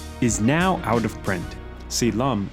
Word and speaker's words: Si Lum: Si Lum is the Cantonese pronunciation of Shaolin.